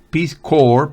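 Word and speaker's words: Peace Corps: una competencia de conocimientos recuerden la p no se pronuncia con piscor personal tampoco la speezcore personal aprendí a plantar hortalizas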